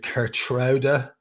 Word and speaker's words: Geertruida: Apparently, you're supposed to pronounce it Geertruida, but anyway, whatever way you want to say it, over the line, because